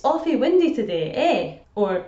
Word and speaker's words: eh: Another way of saying "isn't it" in Dundee is the word "eh." "Eh," which can also be pronounced "a," is so much a part of Dundonian speech that it almost deserves